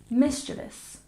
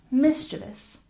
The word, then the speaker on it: mischievous: 14 we have mischievous we stress the first syllable and we generally try to keep it to three syllables even though there's a lot of letters in this word repeat after me mischievous mischievous one more time mischievous